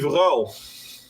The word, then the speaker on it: Van Gaal: manager Oh, of Manchester United, there was a months long debate about how best to pronounce his name, and he just came out and said, "Look, just call me Van Gaal." So we English call him Louis Van Gaal, even though a Dutch person would go, "Who?" yeah, Louis Verhaal.